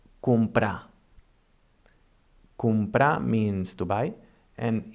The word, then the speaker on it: comprar: Also, if we have one R after a consonant, it also sounds soft, as for example in the verb comprar.